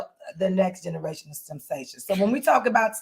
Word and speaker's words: STEMsation: Now, our definition of STEMsations, I used to know by heart, y'all. We got to get back to it. But as you can see, it is a noun. That's how you say it, STEMsation.